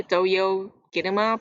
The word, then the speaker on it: Toyo Kinema: I'm gonna say Toyo Kinema because that's how they say it, and I find it really cute, so I'm gonna say it like that from now on.